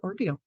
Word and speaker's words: Ordile: And it looks like Ordile, Ordile. It's LauraOrdile. It's pronounced Ordeal.